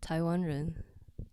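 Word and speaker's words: 台灣人: Well, we're called Taiwanren. Taiwan Ren? Taiwanren. So Taiwan Ren. yeah, the Chinese pronunciation for Taiwan is Taiwan.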